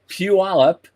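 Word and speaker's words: Puyallup: But Orbital Robotics, which is in Puallup, I got the pronunciation right.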